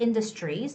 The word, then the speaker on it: industries: you're reading the word industries the tr has the similarity of the ch sound right it's very similar to ch so it's industries in our community community